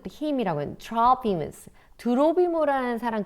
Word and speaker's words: Trophimus: 그렇게 이 소요를 일으키고 사람들을 부추기는 이들, 이 아시아에서 소아시아에서 온 유대인들은 had previously seen Trophimus, 드로비모라고 하는 사람인데요. 이 드로비모를 영어 발음은 Trophimus인데 우리 한글에 드로비모라고 우리 한글 성경에 나와 있죠.